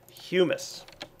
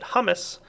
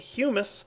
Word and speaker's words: humus: put, here we go, humus. Yes, look at that. I pronounced it right. Anybody who's seen my series in the past knows I like to pronounce it hummus. But it's actually humus, and humus is the